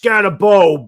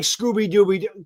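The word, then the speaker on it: Skattebo: Well, he comments on one of my videos and he goes, Baddog, it's pronounced Scatabo, B-O, not like Scooby-Dooby.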